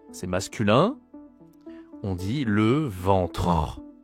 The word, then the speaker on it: ventre: Ici, on dit simplement, c'est masculin, on dit le ventre. Attention à la prononciation, c'est nasal. En e n le ventre dit pas le ventrein, dit le ventre.